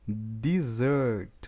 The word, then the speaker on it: dessert: Outra coisa, pessoal, é na pronúncia, tá? Então, essa palavra aqui, ó, ela é dessert, ó, dessert, tá? E se eu quiser falar deserto, é desert, ó, desert é deserto.